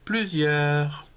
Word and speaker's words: plusieurs: plus s y ait eu une ère s plusieurs le poids paix aux idées s poids de